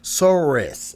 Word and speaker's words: Soros: knows dude um george oh george sword so soros that's how you say it so what is